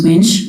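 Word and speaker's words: Wuensch: it's spelled and my last name is winch that's spelled w-u-e-n-s-c-h thank you you're welcome to examine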